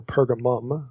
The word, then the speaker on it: Pergamum: a place specifically in pergamon or pergamum okay you see it pronounced either way and spelled either way in verse 13.